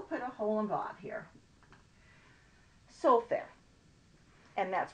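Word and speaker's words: סופר: are written here's a soak there that's a scribe and sometimes you will see it written slightly differently it's pronounced exactly the same but instead of just having to hole them over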